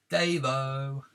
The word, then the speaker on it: Dejvo: Davo! Oh, that's how you pronounce it. So A1 Dejvo is pronounced Davo.